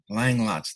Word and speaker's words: Langlotz: Today's eHero is Angela Langlotz. Did I pronounce that right?